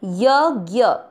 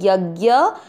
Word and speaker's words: यज्ञ: पहला चरण यज्ञ, दोनों अक्षर पूरे, दोनों में अ मिक्स करेंगे। यज्ञ, शी के साथ आधा श षटकोण वाला।